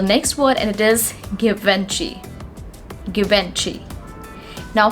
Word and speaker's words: Givenchy: Now this is again a French brand, and it deals into luxury perfumes, and the correct pronunciation of this word is Givenchy. Givenchy. It's not at all Givenchy, guys. It's Givenchy.